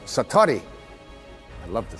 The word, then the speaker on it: Satori: out whose excuse my Japanese but it's called Satori I'd love to say that Satori SAT Ori